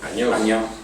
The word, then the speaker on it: Anyó: cert que el teu cognom, per a ser un valencià parlants, la gent ha prou feines per a pronunciar-lo a la gent. Anyó.